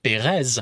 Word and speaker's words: Perez: pronouncing the T but my last name Perez yeah I'm pronouncing the Z so see I don't